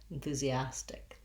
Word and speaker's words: enthusiastic: move to the le the first letter s in enthusiastic says the z sound enthusia um the letter i says the tense e enthusia and then we get to our stressed syllable with our ah black cat vowel as stick enthusiastic this tea we might